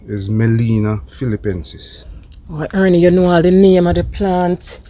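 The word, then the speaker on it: Gmelina: It's called a Melina philippensis. And the Melina is spelled G-M-E-L-I-N-A. G is silent. Melina philippensis.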